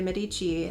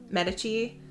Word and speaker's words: Medici: book 15 year old Lucrezia de casimo de Medici left Florence to begin her married life with